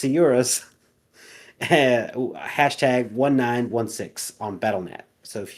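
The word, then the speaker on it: Sciurus: like two pronunciations but it definitely doesn't have the hard c. So I'm going to stop saying that. So it's sorus #1916 on battleet.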